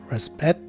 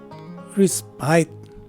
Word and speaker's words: respite: in the second variation the letter s is a regular sounding letter s for both variations and the letter i is a swash sound in the first variation whereas it takes a long i sound in the second variation and finally the letter e at the end of the word is dropped in both variations so the right way to say this word is either respet or respite and there you have